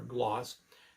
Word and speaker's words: Glass: content in its plastics, hence the prefix glass or gloss, as it is pronounced properly in Spanish.